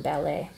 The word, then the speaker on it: ballet: or I'm stressed out pronunciation for balle balle balle we stress the second syllable in ballet um may obli go